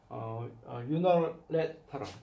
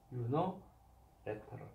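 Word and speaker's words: unilateral: 그리고 유노레터럴, 유노레터럴. 자, 요 I 발음은 어 발음을 하신다. 액센트가 없어요. 유노레터럴, 그렇죠?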